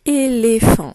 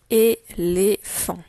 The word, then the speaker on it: éléphant: Alors, le son f. Il s'écrit PH et pas avec la lettre F. C'est le P et le H ensemble qui font le son F, comme dans un phare.